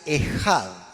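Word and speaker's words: אחד: aquí en la Chema Es un término hebreo que se pronuncia ejad repita conmigo es uno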